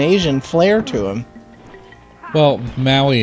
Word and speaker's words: Maui: ma you I yes Maui it's like Maui Hawaii yeah I was hoping it doesn't make any sense to this kind of got like an asian flair to him well maui its has a lot